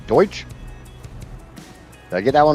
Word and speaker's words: Deutsch: And honestly, we we had this discussion yesterday about me not knowing how to say German in German, which I guess it was uh Deutsch.